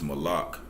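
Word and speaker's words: מלאך: or how you say it in Hebrew is Malak you know it's it's king or messenger and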